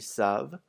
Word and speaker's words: savent: Also notice that the ENT isn't pronounced on either of the il with an S or the l with an S. Never ever in French is the ENT pronounced in a verb.